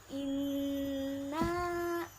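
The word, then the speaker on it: إنا: sold it Ukan ada Ina Nun bertasydid harus ditekan dan didengungkan membacanya coba kita baca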